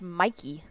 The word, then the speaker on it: Michie: It's Michie, right? Yeah, Corey James said, note from a former Army guy, West Point Stadium is pronounced Mikey, but looks nothing like that.